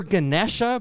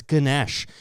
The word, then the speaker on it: Ganesh: S H and if you club that N and D together so it becomes Ganesh. Ah okay.